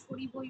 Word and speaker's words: স্মরিব: সরিবো সরিব মানে দন্তে সয়ময় রয় হসইবো স্মরিব ও স্মরিবই তো হবে ম্যাম তাহলে হ্যাঁ ওর উচ্চারণ তো স্মটা বলে না সরিবই বলে ঠিক আছে মটা লেখে কিন্তু ওটা উচ্চ স্মরিব স্মরিব